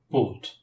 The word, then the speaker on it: bought: gh's in the past in the past simple GH is silent so we have not